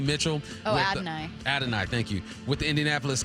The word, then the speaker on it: Adonai: You got say his name right, Adonai Mitchell. Adonai, thank you.